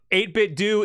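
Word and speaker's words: 8BitDo: on by default uh eight bit do that's how you pronounce it from the company itself so you're right emailed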